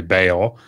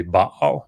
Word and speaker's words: Baal: it today is usually Baal. It's usually what I hear, which I mean, is absolutely fine. The way that you would read that in Hebrew, at least, would be Baal.